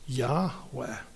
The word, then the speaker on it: Yahweh: But my name is I am which in Hebrew when the first person speaker is speaking is when you refer to that person, the pronunciation is Yahweh.